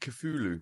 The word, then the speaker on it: Cthulhu: Well, how do you pronounce it? Cthulhu.